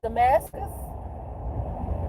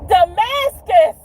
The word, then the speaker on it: Damascus: What did she mispronounce Damascus? It's Damascus.